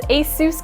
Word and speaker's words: ASUS: a quick little lesson on how to actually pronounce asus correctly we got kraken a-s-u-s asos asus asus